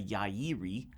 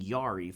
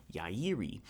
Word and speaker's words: Yairi: yairi wy1ts now confession I've been saying Yari for pretty much my whole entire career but apparently that is not it so I'm going to keep working on how to really pronounce that but anyway these are